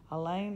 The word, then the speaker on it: Elaine: Elaine rhymes with pain.